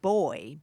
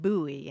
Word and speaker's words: buoy: is uh British and he said boy be you know boy and uh she pronounced it buoy and so they had a little disagreement about that and and I don't